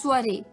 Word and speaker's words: soiree: है ये एक अटपटा सा वर्ड है, स्पेलिंग कुछ और है, प्रोनाउंसिएशन कुछ और है। स्वरे, स्वरे, जी हाँ दोस्तों, स्वरे, SOIREE, स्वरे, SOIREE, स्वरे।